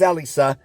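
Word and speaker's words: Elesa: waifus of all time Alisa and yes it is Elisa if you've been pronouncing it wrong all these years you've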